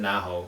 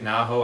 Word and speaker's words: Naho: The main character is chick named, I pronounce it Naho, I assume. I see Naho. Yep. Naho, okay.